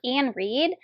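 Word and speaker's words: Iain Reid: I have foe by I think it's pronounced Ian Reed um I picked this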